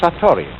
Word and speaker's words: satori: is in japanese and then it is called satori i'll write that down it's an unfamiliar word